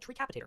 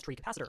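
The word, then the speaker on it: Treecapitator: There's a mod in this pack called tree capitator that let you chop down trees by breaking the lowest block of that tree. I unironically pronounce this as tree capacitor for the better part of a decade and not once did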